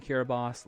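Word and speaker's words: Kiribati: hours in the past okay another place in Kira boss let's see 82 mostly cloudy and then also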